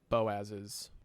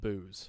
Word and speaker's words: Boaz: his wife is also Boaz's wife. Uh, he also doesn't pronounce it Boaz. He pronounces it Booze. So, Ruth of Booze.